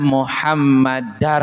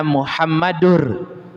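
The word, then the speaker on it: محمداً: Ashadu alla ilahaillallah wa ashadu anna muhammadar rasulullah. Jangan wa ashadu anna Muhammadur. Kalau dibaca wa asyhadu anna Muhammadur itu bacaan salah. Tapi harus dibaca wa asyhadu anna Muhammadar rasulullah.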